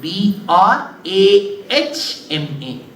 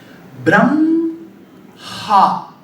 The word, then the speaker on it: Brahma: write it that way so if you pronounce it the way it is written how should you pronounce Brahma correct but you see when you pronounce inadvertently you will put the sound of M first Bram ha why there is a